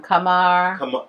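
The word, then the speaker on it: Camargue: u e Bruce what is how do you pronounce it Flor toell yeah but where is a come from Kamar Kar France Kamar France I got it a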